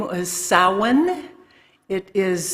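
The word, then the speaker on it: Samhain: to that holiday uh the older name is sowen it is spelled Sam Hayne but that is not the pronunciation salwan and um beef I was doing some um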